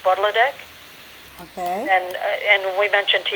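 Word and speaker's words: Potlotek: It's in Mi'kmaq, it's pronounced Budladek.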